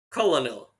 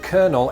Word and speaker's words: Colonel: going on well the word Colonel entered the English language in the 16th century from French however back then the word much like the average military costume looked very different it was spelled and pronounced Coronel and when English settlers